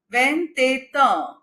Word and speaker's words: vingt-et-un: Here we are pronouncing T because again it is succeeded by A. ET is A. And T is again succeeded by U. So after T we have a vowel E. And after T we have a vowel U. So it is vingt-et-un.